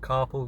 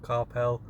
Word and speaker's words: carpal: I think that's how you pronounce it, carpal, not carpel, carpal tunnel. um, I'm not 100% sure.